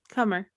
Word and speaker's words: Kummer: Should I say Coomer or Cummer? Kathy Coomer. Okay. How do you spell it? Kummer. Cummer. Okay, Kathy Cummer.